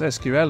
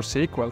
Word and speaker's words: SQL: This usually includes a database managed using some variation of the structured query language, pronounced SQL or SQL.